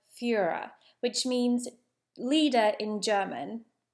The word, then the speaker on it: Führer: The Fury is Bruno's mispronunciation of the word Führer, which means leader in German.